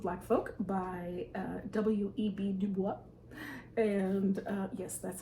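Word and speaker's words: Du Bois: The Souls of Black Folk by uh W.E.B DuBois and uh yes that's how you pronounce that whoops so this is a non-fiction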